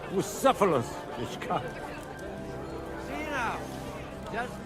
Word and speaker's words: Bucephalus: What kind of name is Bruce Phallus anyway? It's pronounced Bucephalus, this cunt.